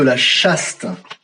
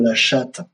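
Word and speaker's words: La Châtre: opposer le compte de la chaste ne rigolait pas il s'appelle conte de la chaste et ça se prononce contre de la chatte et les les ponots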